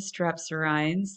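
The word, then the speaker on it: strepsirrhines: So we have the haplorhines and the strepsirhines. That's how that's pronounced.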